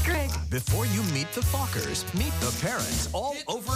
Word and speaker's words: Fockers: see meet the um how do you pronounce it oh just like it's spelled f-o-c-k-e-r Meet the Fockers in theaters December 22nd